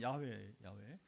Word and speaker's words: 야훼: 원래 히브리 발음은 여호와가 아니에요. 여호와는 이게 영어가 그러니까 여호와를 영어로 저호바 이렇게 저호바. 그러니까 이제 한국어로 옛날에 어른들이 이제 우리 옛 어른들이 영어를 많이 의존하니까 히브리를 잘 모르니까 그만 야훼가 아니라 그냥 여호와가 이렇게 저호바 하면 잘 발음도 힘들어요. 한국 사람들 그죠? 그러니까 한국식으로 쉽게 발음하기 위해서 엉뚱하게 이 한국 사람만 쓰는 여호와예요. 그러면 이름 없어. 그게 번역이 됐으니까 그렇게 부득이 쓰는 거지. 원래는 야훼.